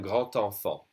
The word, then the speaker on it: grand enfant: So here, the D would be pronounced like a T when you do a liaison. So it would be un grand enfant, a big child.